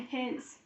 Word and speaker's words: his: last sound in his however the sound Z in the word his isn't spelled with a z but it's spelled with what letter with an S right so we just said that the letter that spells Z is s right yes that's the